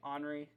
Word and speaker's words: Henri: you know i think i said henry i meant to say honoree uh it's pronounced differently but henry actually shot